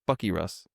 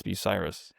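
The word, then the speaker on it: Bucyrus: pron in my head like oh this is pronounced Bucky Russ but it's Biryus.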